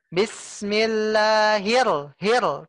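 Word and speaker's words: بِسْمِ اللَّهِ الرَّحْمَٰنِ الرَّحِيمِ: dibaca bis Bismillah hirohman Bismillahirrohmanirrohim tasydidnya diingat Bu Pas ditekan bu.yah tasydidnya di ditekan Bismillahirrohmanirrohim tekan Ya iyalah manir pekanya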